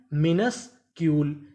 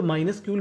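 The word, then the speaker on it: minuscule: अगर आपको इंग्लिश की किसी भी मीनिंग के आखिरी में इ लिखा हो तो हमें इ का उच्चारण नहीं करना होता।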